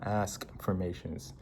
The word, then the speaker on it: Askfirmations: So consistently use the question format, Askfirmations. Before, like I said affirmations. That was completely wrong. I mispronounced all of it, because we have affirmations, the statement form, and then the question form is Askfirmations.